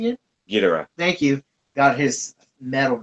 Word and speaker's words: Ghidorah: Hold on, give me the pronunciation again. Ghidorah.